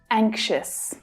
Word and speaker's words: anxious: In the first syllable, the stressed syllable, the strong vowel sound a is followed by the consonant. And that consonant sound is usually made by the letters ng, like in song.